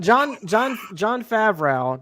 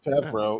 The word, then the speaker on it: Favreau: Look, John Favreau doesn't try to mispronounce his shit. It's spelled exactly how it sounds. John Favreau, yep. Favreau.